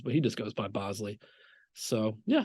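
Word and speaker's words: Boushley: home the point that it's Bosley not Bley or whatever it may be he said you know through the family lineage there's alternate pronunciations but he just goes by Bosley so yeah it's another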